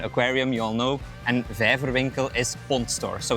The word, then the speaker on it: Vijverwinkel: So the aquarium store is, help me pronounce it then because it's very difficult. Our name is De Waase, Aquarium and Vijverwinkel. Vijverwinkel, I like that.